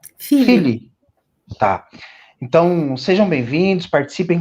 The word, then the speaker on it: Figlie: É assim mesmo que pronuncia o sobrenome, professora? Figli. Figli.